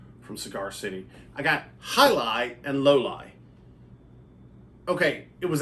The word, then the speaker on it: Jai Alai: out of the way you're looking at this and going I don't know that that's how that's pronounced well the whole thing is highlight is a sport look